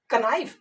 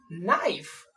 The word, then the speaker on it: knife: उसी प्रकार है KNIFE, इसको हम क्या पढ़ते हैं, कनाइफ? नहीं, इसको हम लोग पढ़ते हैं नाइफ, है कि नहीं।